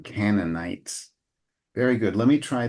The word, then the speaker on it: Canaanites: names uh I I one suggested uh pronunciation Improvement would be Canon night all right so that ey is nice and open canites very good let me